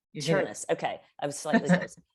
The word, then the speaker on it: Chernis: Chernis rhymes with furnace. Chernis.